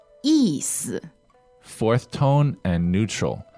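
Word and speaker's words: 意思: And then the next part is 意思，意思。 4th tone and neutral. How do we spell that in pinyin? Y-I, 4th tone, and S-I, neutral tone. 意思.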